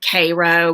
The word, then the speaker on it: Cairo: We've got Georgia has, Athens, and then down in South Georgia, Cairo. We pronounce it Cairo, but Cairo, it's spelled like Cairo, Egypt. All that.